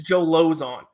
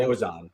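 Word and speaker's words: Lauzon: Even though you were still mispronouncing it, it's Joe Lozon. How dare you? Lozon.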